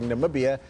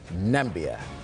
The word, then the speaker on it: Namibia: follows donald trump ofourse calling namibia nambia and then of course